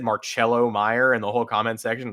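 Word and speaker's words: Marcelo Mayer: It's Marcello Meyer. And so it's JAC Caglione, and we're not pronouncing anybody's name wrong anymore.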